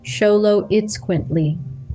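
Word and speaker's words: Xoloitzcuintli: meet the Zolo quintly pronounced sholo it quintly or Zolo for short this breed hailing from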